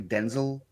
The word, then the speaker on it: Denzel: Is that he said it's actually Denzel, but everybody's just pronounced it Denzel.